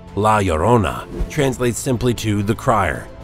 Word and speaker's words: La Llorona: angry ghost and a cursed creature the name pronounced la llorona translates simply to the crier which is exactly